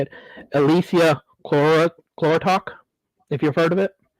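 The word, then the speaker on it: Elysia chlorotica: been looking into called, and I'm going to butcher the heck out of this word when I say it, Elysia chlorotok, if you've heard of it.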